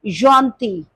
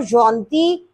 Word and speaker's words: gentil: You will say il est gentil. Il est gentil. And the feminine is also gentil. In written English, spelling will be different, but the pronunciation will be same.